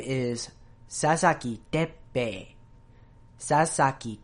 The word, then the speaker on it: Teppei: have to introduce a new concept in Japanese pronunciation that I haven't really gone over before in these. So his name is Sasaki Teppei. Sasaki Teppei.